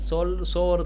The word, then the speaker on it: sour: It rhymes with the word power and shower.